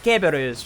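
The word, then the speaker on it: Cerberus: I say kberus because that's the more Latin pronunciation of Cberus, as you would know from Greek mythos.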